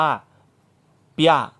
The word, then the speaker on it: เปีย: ยอ ยักษ์ นะ ครับ เป็น การ ควบ กล้ำ ป เสียง ปลา ควบ กับ เสียง ยอ นะ ครับ ปอ กับ ย่อ ควบ กัน ปะ กับ ยาก ควบ กัน คือ ออก เสียง ว่า เปีย นะ ครับ ดี นะ พระ